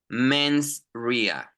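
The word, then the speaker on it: mens rea: two things actus Ria and men's Ria again pronunciation actus Ria ausia very good men's Ria men R very good so actus Ria is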